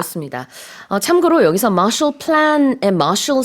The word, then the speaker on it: Marshall: 참고로 여기서 Marshall Plan의 Marshall 스펠링은 M-A-R-S-H-A-L-L이에요. 그래서 말씀드린 것처럼 이게 예전에 그 국무장관 조지 마셜의 이름에서 따온 겁니다. Not to be confused with M-A-R-T-I-A-L, which sounds the same but Yeah.